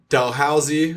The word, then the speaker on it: Dalhousie: chose I know how to say it now Dalhousie I'm pretty younger that's the way yeah yeah